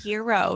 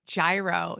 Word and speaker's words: gyro: You know how people are like, it's called gyro, not gyro. They're right, because in Greek, we don't have a hard G. It's all soft G's.